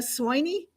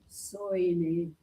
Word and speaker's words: Soini: Travel, Don Soldan and Sweeney. Am I saying your name right? No. How do you say it? Soini.